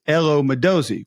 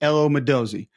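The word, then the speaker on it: Elo Modozie: Athens, Georgia because it's Elo Moszi, which I thought it was Elo. I was pronouncing incorrectly apparently. Elo Madozi.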